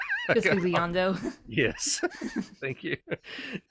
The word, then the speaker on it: Bisbigliando: And there's also, I mean, there's all kinds of different effects, and it's like there's the word I can never pronounce unless I'm looking at it. It was like bisblion. Bisbigliando.